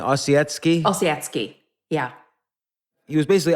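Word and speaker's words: Ossietzky: first off how do you say his name osetsky osetsky yeah he was basically on the left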